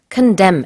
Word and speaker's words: condemn: 끝에 m하고 n도 있습니다. good point. 그런데 발음이 condemn, m 발음까지만 하는 거죠? Yeah, there's no sound from the end, but yes, it has to be there. 네, 그렇습니다. n이 묵음입니다.